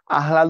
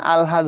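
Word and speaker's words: আহ্লাদ: ও হয়ে যাবে মগজ আহলাদ হবে না আলহাদ হবে আমরা খানিকক্ষণ আগেই তোমাদের দেখায় দিছিলাম এটা হবে আলহাদ অর্থাৎ আগে ল পরে হ আলহাদ তাইতো আগে ল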